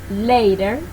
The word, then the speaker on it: later: This is called flat T. That is, if there is a vowel before and one after the T, it will sound like a Spanish R. For example, later, pretty, meeting, city.